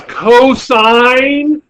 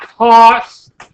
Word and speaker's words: cosine: will make me angry this is cosine not cost this is tangent the